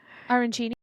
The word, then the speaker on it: arancini: Kat, pronounce it for me. Arancini.